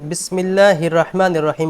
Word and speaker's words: بسم الله الرحمن الرحيم: بسم الله الرحمن الرحيم বিসমিল্লাহর মধ্যে যে ভুলটি হয়েছে, বিসমিল্লাহির রহমানির রহিম পড়েছেন উনি বিসমিল্লাহির র, হির র মুশাদ্দাদ, এখানে দুই রর উচ্চারণ করতে হবে।